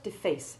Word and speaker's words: deface: The word deface, for example, in which the root syllable F-A-C-E remains stressed, keeps the long A1 sound of the monosyllable face, but in the word